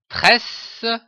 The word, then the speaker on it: tresse: Dans la lecture et l'écriture syllabique du mot tresse, il faut bien remarquer que la coupure des syllabes s'effectue entre les doubles s.